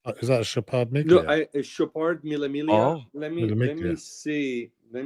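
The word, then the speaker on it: Mille Miglia: Could be Millimiglia. That's a great Milia. great guess. You don't pronounce the G on it. G. Yeah. Millemilia.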